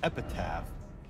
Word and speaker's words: epitaph: It's pronounced epitaph.